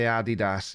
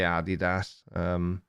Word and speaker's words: Adidas: I picked up on that word and I say Adidas. Yeah, I think it's Americans just say Adidas.